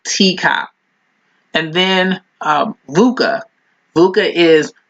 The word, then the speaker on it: TECOP: The next one is TCOP. The acronym is spelled TECOP, and it's an acronym for technical, environmental, commercial, operational, and political.